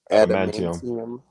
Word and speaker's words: adamantium: see his skin disappear and you see his animanium. How do you say that shit? Adamantium.